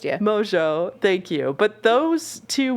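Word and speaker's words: Mongeau: people call her Tana Mongoose yeah because her name her last name is spelled in a way that's not phonetically how it's pronounced yeah Mojo thank you but those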